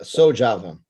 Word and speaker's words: SoJava: As founder and coordinator of SoJava, did I pronounce that correctly? Yeah, SoJava.